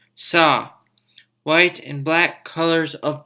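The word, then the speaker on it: 사: death in other cultures this refers to the number four and sino-korean numbers and is pronounced saw white and black colors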